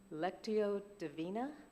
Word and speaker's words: Lectio Divina: And I keep seeing something about, I'm going to say it wrong, Lectio Divina?